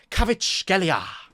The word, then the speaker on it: Kvaratskhelia: But I can pronounce it perfectly. It's Chivaka Kvaratskhelia.